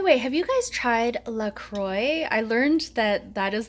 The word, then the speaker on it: LaCroix: risotto by the way have you guys tried Lacroix I learned that that is the correct pronunciation today I used to call it luck